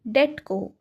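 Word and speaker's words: debt: को कौन डेप्ट कहू ये आम बीटा तो साइलेंट थाए आमे कौन को पिला माने डेट कहू ठीक अच्छे तो ऑप्शन आपणकर ए बा आपणकर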